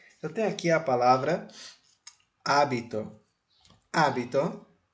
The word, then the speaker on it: hábito: por exemplo ó eu tenho aqui a palavra hábito hito o acento prosódico e o assento escrito está no a portanto hábito Você sabe o que é um hábito é